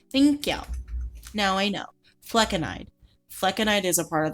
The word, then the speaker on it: flecainide: Fleconide.